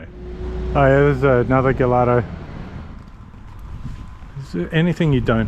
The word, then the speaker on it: Gallardo: Is that Gallardo? Oh yeah, look, oh, it's a Gallardo manifold, yeah. Wrecked a few Gallardos, have you? Yeah. How do you actually pronounce it? Is it Gallardo? Gallardo. Gallardo.